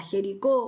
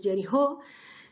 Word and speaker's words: Jericó: dos espías hasta ir hasta Jericó o hasta como en realidad se pronuncia Que jerijó para ir a a